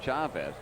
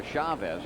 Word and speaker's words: Chavez: kidding about that earlier is it Chavez or Chavez well the Spanish pronunciation is Chavez CH but it's been Americanized into Chavez Eric is from the